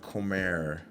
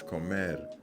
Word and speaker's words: comer: For example, it's not comer, it's comer.